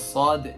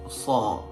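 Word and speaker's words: ṣād: a recap is that horus sword is pronounced as sword not saw and noon not na and many more so please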